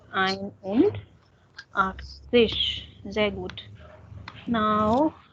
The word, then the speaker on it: ein: It would be ein, not eins. Ein only. Ein und Axis.